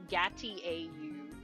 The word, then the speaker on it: gâteau: It's spelled in the game with a U, I think, because it's supposed to be like gâteau, chateau.